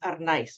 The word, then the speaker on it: Arnaiz: The last name is pronounced Arnaiz. We roll the R.